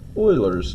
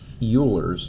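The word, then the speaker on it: Euler: um it's actually called Oilers number and yes you'll hear people say you R's number but it is pronounced like oil Oiler and it is an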